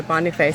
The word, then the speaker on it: Boniface: Gare and something other Boniface Stadium. Okay. So there we go. My surname is French. Yes, okay. It's supposed to be pronounced Boniface. Oh, okay, yes.